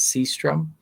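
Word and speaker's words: Sjöström: So, um, this is Victor Holstrom. I think that's how you pronounce it in, uh, his native Swedish. In this film, he's credited as Seastrom. Um, that's the more anglicized name of him.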